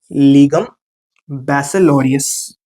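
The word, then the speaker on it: Legum Baccalaureus: Form of एलएलबी, ठीक, pronunciation इसका अच्छे से सीख के जाना, बताता हूं, ठीक। इसको बोलते हैं लीगम बैसिलोरियस, लीगम बैसिलोरियस, लीगम बैसिलोरियस, ये आपको बोलना है।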